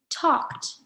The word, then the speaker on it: talked: Okay, our first verb is talked. Does talked end with a d or a t? Talked ends with a t sound, so write talked here.